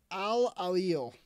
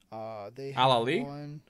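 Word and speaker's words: Al Ahly: Al-Ahil. I pronounced that terribly. I know it's A-L-A-H-L-Y. Al-Ahli? Sure.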